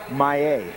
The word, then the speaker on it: Maillet: How do you pronounce his name? Mallet? Maillet. Maillet?